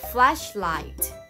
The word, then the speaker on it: flashlight: อ ก เ สี ย ง ว่ า flashlight flashlight F L A S H L I